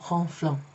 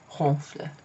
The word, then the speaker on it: ronfle: you just add ent, but you don't pronounce it. It's not ronflant, okay? It's ronfle.